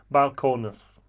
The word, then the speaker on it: Balcones: great products here from Balcones. What is your favorite Balcones product? I say Balcones, other people say Balcone.